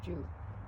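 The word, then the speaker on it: Joo: but in Kashmir they pronounce it Jew.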